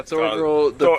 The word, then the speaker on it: Thorgal: Thorgal, by the way, people on the internet, if you want to find it. Yeah, Thorgal. I'll spell it for people.